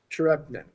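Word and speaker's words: Tcherepnin: Serge Trepnet? Yes. I'm always confused. I've never heard his last name. I read it, but I don't know how to say it. So. Trepnet, yes.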